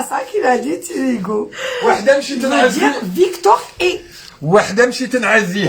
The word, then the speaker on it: Tirigou: Mais au Bled, il le prononce Tirigo. pas Hugo, C'est voilà, c'est ça.